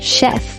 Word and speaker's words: chef: This word is pronounced as chef and not chef.